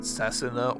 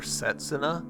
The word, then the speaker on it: Setsuna: whether I'm going to pronounce it Sassina or Satsa. um kind of I think Cessna is more correct but Setsa is kind of you know it's kind of tea in the name so like American me kind